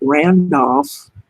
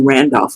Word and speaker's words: Randolph: the state has issued a statement urging world Randolf it's actually Randolph County so stands mirror if I did not